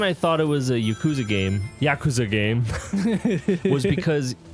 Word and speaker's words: Yakuza: so much in there Yakuza yeah it's very Western of you ouch ouch well it's the way that we stress syllables versus the way that like the Japanese language just doesn't stress any syllables generally that's true